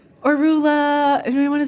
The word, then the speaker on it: Roula: Or Rua. Anybody want to spell it? What is that? Huh? For the record, I do usually say Rua, but there are times I'm like, "Oh, let's just make this easy for everyone."